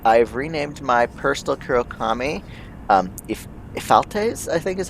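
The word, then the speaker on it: Ephialtes: Ephaltes, I think is how that's pronounced. Ephaltes.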